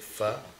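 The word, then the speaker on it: phở: vietnamese broth i don't you spell it pho but you pronounce it fir whiskey and cheesecake in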